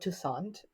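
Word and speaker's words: Toussaint: name a lot but remember it rhymes with croissant croissant tant uh so I don't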